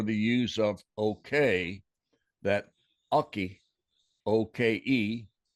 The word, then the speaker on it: oke: Even though there was a Choctaw word spelled O-K-E and pronounced Oki, and it meant I understand. Could have been the genesis for the use of okay, that Oki, O-K-E, not or I understand, which is how we use okay today.